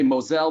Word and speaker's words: Moselle: rhine and the moselle the french say moselle the germans called the mosul and spell it a little differently but this itinerary is